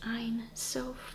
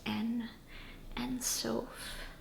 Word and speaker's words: Ein Sof: Technically it's Ein Sof, but colloquially this is pronounced En Sof.